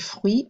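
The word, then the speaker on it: fruit: practicing the pronunciation okay notice the word fleet is a cognate and how it's spelled but it sounds very different that uit almost sounds like a w/e sound so even words that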